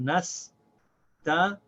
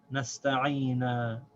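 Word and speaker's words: نَسْتَعِينُ: So this is pronounced nasta'ina, nasta'ina.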